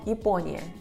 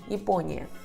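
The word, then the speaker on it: Япония: A sílaba tônica é po. Japônia se lê como Ipônia, Ipônia.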